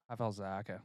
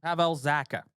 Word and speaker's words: Pavel Zacha: Pavel Zacha. Pavel Zacha.